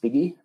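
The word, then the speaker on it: PGI: essentially piggy is well that's how it's pronounced piggy uh provincial growth in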